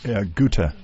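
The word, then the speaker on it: Guthe: Guta.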